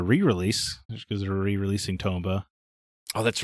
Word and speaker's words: Tomba: comeback Wait wait wait toomba is that how you pronounce it it was Tomba I've never played the